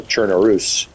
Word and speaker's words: Chernarus: of its main maps, Chernaris or Chernarus, just like Belarus, I'm sure it's pronounced that way, is based on the topography from an area in Czechoslovakia.